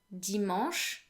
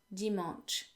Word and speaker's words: dimanche: pronounced the same as the a n in the english word restaurant oh and ch in french is pronounced like sh in english and not ch not dimanche okay then we had